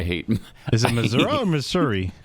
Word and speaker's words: Missouri: is it Missour or Missouri it's Missouri oh okay there is no a in the word Missouri but a lot of the residents pronounce it Missoura well we need teach